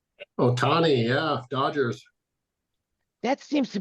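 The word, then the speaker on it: Ohtani: Am I pronouncing his name right? Otani, yeah, Dodgers.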